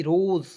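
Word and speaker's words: rose: से next point देखिएगा आर ओ एस ई रोज आर का उच्चारण र के रूप में ओ है इसका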